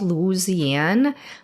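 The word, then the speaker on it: Luzianne: to have this coffee um it was called Louisiana I'm probably killing the name but um it was spelled like l-u-z-i-a-n-n-e and it was a chicory coffee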